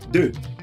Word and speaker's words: deux: 2 is deux. Deux. All right. 3 is being pronounced as trois.